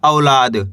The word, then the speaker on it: औलाद: दोस्तों अच्छे से समझ लीजिए, इसको औ करके पढ़ना है, ओ करके नहीं पढ़ना। औ, ला मा की मात्रा ला, दे तो मिलकर बन जाएगा औलाद। क्या पढ़ेंगे? औलाद। आ रहा है समझ में? यहाँ पे औ पढ़ा जाएगा, ये ओ नहीं पढ़ना, औलाद।